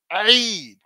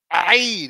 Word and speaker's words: Eid: So the pronunciation comes from back here. Eid, Eid, it's iron, Eid.